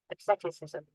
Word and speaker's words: asceticism: हाँ ये इसका एक मतलब भी निकलता है एज ए चीज से, Asceticism. Asceticism. asceticism, Asceticism. asceti, सी साइलेंट हो जा रहा है, asceticism, several self discipline to